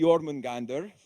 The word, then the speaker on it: Jormungandr: So that starts off with meeting the Jormungandr. That's the way you pronounce Absolutely, that.